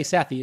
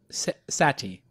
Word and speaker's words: Sethi: me talking to you some people say Sethi it's pronounced sati Sethi sathi yeah yeah